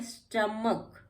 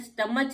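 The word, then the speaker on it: stomach: स्टमक, स्टमक में भी आप देख रहे हैं सी आ गया। स्टमच नहीं कहते इसको, स्टमच नहीं कहते इसको, स्टमक कहते हैं। तो ये हमारा एच यहाँ पे भी साइलेंट आ गया क्योंकि ये सी के बाद आया है।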